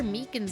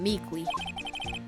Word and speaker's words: Meekins: Actually, Officer Meekins at the detention center told us. That poor little doggy. Poor guy. I keep getting his name wrong and calling him Meekly.